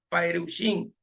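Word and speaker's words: פרושים: le dijiste a los perushim, que así se pronuncia para los fariseos, lo que le dijiste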